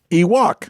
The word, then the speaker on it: Ewok: So instead of Wookiee, Ewok. there you go. And it rhymes with Miwok, a Native American tribe indigenous to the Redwood Forest in which the indoor scenes were filmed.